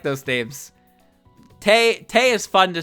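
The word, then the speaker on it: Tewi: it's the same with tay so tay her name is t-e-w-i but you don't pronounce the w so you just pronounce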